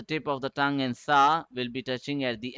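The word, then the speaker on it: ث: but this is sa it should be softer gentler the tip of the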